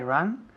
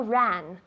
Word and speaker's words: run: I run where she runs. Good. Con la U, que pronuncia muy bien. I run where she runs. Run, no ran. Run. Es un poco cerrado. Tienes la boca cerrada.